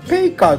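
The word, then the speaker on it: 白毫: これを福建語ではペイカーというふうに発音するんですね。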